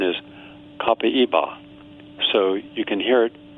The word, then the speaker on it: copaiba: And while many Americans are pronouncing copiaba, the Brazilian pronunciation is copaiba.